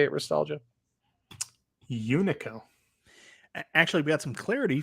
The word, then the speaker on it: Unico: you say it nostalgia unico actually we got some clarity from john d in the chat it's you nico and it stands for you you and i company company you know in